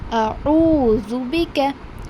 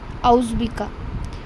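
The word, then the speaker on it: أعوذ بك: A'udhu bika. I have mentioned about this word particularly before that many people mistakenly recite it as auzbika.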